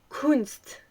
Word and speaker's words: Kunst: Déjà, Kunst, donc art, ça se dit Kunst. C'est super bizarre.